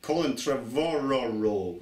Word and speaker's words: Colin Trevorrow: It's Colin Trevorrow.